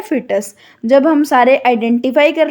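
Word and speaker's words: fetus: हम क्या बोलते हैं, फिटस बोलते हैं। इसकी प्रोनाउंसिएशन होती है फिटस।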